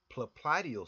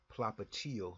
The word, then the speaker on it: popliteal: A Baker cyst, also known as popliteal cyst, that's how I pronounce it. You'll hear other people pronounce it popliteal cyst, is a benign